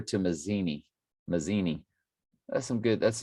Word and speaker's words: Mazzini: or 1873 albert pike letters to messini i don't think i'm saying it right mazzini yeah it's with z's 1871 august 15 1871.